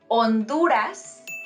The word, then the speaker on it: Honduras: Okay, so we say Honduras, not Honduras. Also, we say Haití, not Haiti.